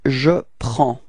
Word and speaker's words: prends: Okay, so you can see that we've got S at the end and then D as well, but then we don't pronounce them. So actually the only thing we will pronounce for this form is P-R-E-N and it's the sound prends.